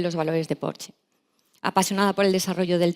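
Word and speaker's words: Porsche: red de concesionarios de Porche Ibérica para España y Portugal. Beatriz me ha dicho que se pronuncia porche en español, así que correcto.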